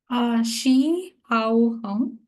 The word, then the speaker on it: Shi Hao Hong: Shi Hao Hong. Hi. If I'm pronouncing it right, yeah.